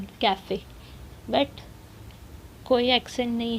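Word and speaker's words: café: बट अगर ई के ऊपर कुछ भी नहीं होता तो हम कहते काफ, पर हम कहते हैं काफ़े। क्यों? क्योंकि ई के ऊपर एक एक्सेंट है इस तरीके से फॉरवर्ड वाला, और तो प्रोनाउंसिएशन चेंज होगा काफ़े।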